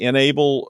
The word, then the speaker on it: N-able: The vulnerabilities affect the enable uh which is spelled in-able if you're just listening.